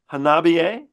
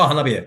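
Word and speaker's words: Hanabie.: I'm hoping to pronounce the name of this band correctly because I was pronouncing it incorrectly. I was told Hanabiye? Oh, Hanabiye.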